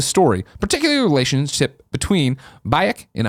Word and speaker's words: Bayek: I just platinumed Assassin's Creed Origins after 66 hours, and like Andrea, really enjoyed the story, particularly the relationship between Bayek and Aya."